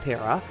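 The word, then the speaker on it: 寺: known as Tera uh it's pronounced kind of like that Tera um and in Shinto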